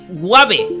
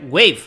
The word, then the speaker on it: wave: decir Kame dice Kame guab Ah dice yo pensé que decía muere eso además Es que la palabra final está mal pronunciada porque debe ser wave hola en inglés ahora